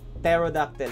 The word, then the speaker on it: pterodactyl: Nakuha na natin ang Pterodactyl. So, sa hindi nakakaalam, guys, isa lang trivia. Hindi po yan, pag binasa niyan, silent P yan. Ewan ko kung ba't may silent P. So, Pterodactyl yan, guys.